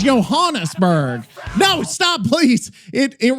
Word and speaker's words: Johannesburg: Joe rhymes with go. Okay. Johan Han Johannesburg. Johannesburg or something like Yoberg like Joberg. Johanisburg if Joberg if you wait locally they just call it Joberg.